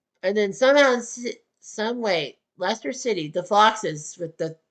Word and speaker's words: Leicester: Leicester, pronounced Leicester City.